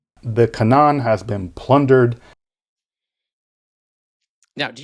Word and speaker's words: Canaan: And how does the organization say it? Canaan. We know Canaan. How do Bible scholars say it? The cananan has been plundered.